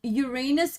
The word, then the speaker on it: Uranus: weapon youra who imagine technically it's pronounced Uranus Uranus Uranus sorry English third language guys I'm sorry no no no it's okay there's a lot of there's a lot of people who pronounce it the other way um listen as a